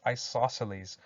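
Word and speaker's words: isosceles: in the middle here we've got this weird looking word but it's pronounced isoceles so an isoceles triangle is one which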